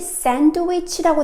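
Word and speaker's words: sandwich: 단어 한번 발음해 볼까요네 혹시 샌드위치라고 대답했다면 또 적합합니다 왜냐하면 디 발음이 묵음이거든요 그 다음에 마지막으로이 단어도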